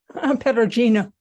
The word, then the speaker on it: Perugino: You see how the artist, and Eileen, do you know how to pronounce Perugino? Am I saying it right? You speak Italian, Eileen? See, Perugino. Sorry. That's correct. Yeah, you just pronounce everything.